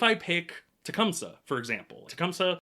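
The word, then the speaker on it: Tecumseh: pick Tecumsa, for example, Tecumsa, I think it's like pronounced Tcumtha actually, but based on what he says in game, I'm going to continue pronouncing it Tecumsa because I'm not 100% certain.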